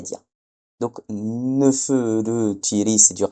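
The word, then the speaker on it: Nefertari: Et là alors pourquoi le A a été transcrit pourquoi le I égyptien a été transcrit en A en ? Ça c'est juste une purement pour faciliter la prononciation des Grecs. Mais bon, en vrai on devrait dire Nefertyri.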